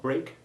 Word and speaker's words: break: Important exceptions here are break and steak, both of which have the long A1 sound, except when you eat your first meal of the day.